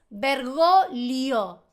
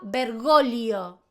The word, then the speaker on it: Bergoglio: para Vergoglio, que nació en Argentina, para toda Latinoamérica, para España, pero en Italia, Vergoglio, la G, la primera G obviamente se pronuncia, yo estoy hablando de la G con la L. Es vergolio.